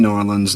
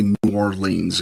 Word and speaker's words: New Orleans: New Norans. New Orleans. New Norans or Norlands or however it is you want to. There's variations on it. Don't say New Orleans because you sound like